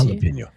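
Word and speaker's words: jalapeño: Which is weird because you never pronounce the J and now you're pronouncing it. What are you guys doing? I think Jalapenño Jalapeno like it's an H is actually pretty spicy.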